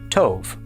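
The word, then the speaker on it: טוֹב: Tate makes the sound t. The vav with the holam makes the sound o. And the bait with no dagesh makes the sound v. Al together this is pronounced tove.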